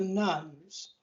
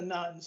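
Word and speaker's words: nones: is what's called the rise of the nuns and that's spelled n-o-n-e-s as in none of the above not not nuns as in a religious order in the roman catholic church right the rise of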